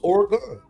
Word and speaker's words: Oregon: It's 2 syllables. Oregon. The same way you say again.